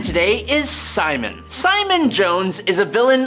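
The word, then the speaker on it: Psimon: All of that, but he basically just calls himself Simon, but cool because there's a silent P in front of it, so we all know that he has psychic powers.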